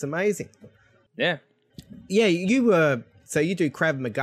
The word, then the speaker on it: Krav Maga: Yeah, you do Krav Maga. How do you pronounce it? Yeah, no, you nailed it. Krav Maga.